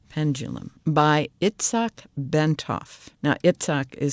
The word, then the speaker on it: Itzhak: stalking the wild Pendulum by xach bentov now itsok is spelled i t z h a k bentov